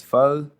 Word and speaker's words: pho: It's pho.